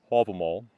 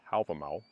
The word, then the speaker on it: Hávamál: stanzas of the poem all them all that is the Old Norse pronunciation the modern Icelandic pronunciation is album out and these are produced